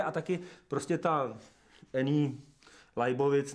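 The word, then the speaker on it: Leibovitz: Že ten fotograf právě mě přijde a taky prostě ta Eni Leibovic, nebo teda Leibovic, Leibovic správně teda right pronunciation, právě říká, že se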